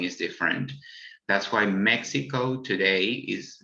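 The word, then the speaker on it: México: is different that's why mexico today is spelled with x rather than j although in spanish we pronounce this as the same sound as j there is also the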